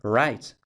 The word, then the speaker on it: write: perder en contextos como write escribimos la w pero no la pronunciamos de hecho raids de escribir suena exactamente igual que right de por ejemplo derecha es decir el inglés